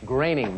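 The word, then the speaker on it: Groening: Pronounced correctly, the name of this Simpsons creator rhymes with caning. Andrea. What is gaining? No. Joel? What is graining? Graining.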